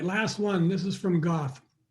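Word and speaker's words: Goethe: This is from Goth. I've actually heard it's pronounced Guter, but I'm just going to keep calling it Goth because I don't think people know what Guter means in German.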